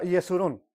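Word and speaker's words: Jeshurun: Miren, pero Jeshurún es Israel, y más que nada se pronuncia Yeshurún.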